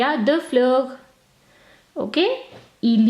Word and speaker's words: fleurs: simply add an s, but do not pronounce this s. We do not pronounce the French plural s. Okay, so il y a deux fleurs, there are 2 flowers, il y a deux fleurs.